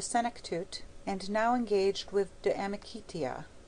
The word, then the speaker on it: De Amicitia: We've finished Livy and De Senectute, and now engaged with De Amicitia, pronounced Damicitia.